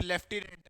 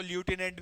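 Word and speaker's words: lieutenant: फिर लेफ्टिनेंट, उसको ल्यूटिनेंट भी बोलते हैं, मतलब जो मैंने आपको बोला था।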